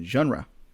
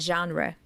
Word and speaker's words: genre: comedy with some Adventures I think it comes from French right it sounds French to me genre yeah there's another